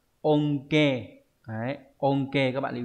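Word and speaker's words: 恩恵: Ân huệ đọc là onke.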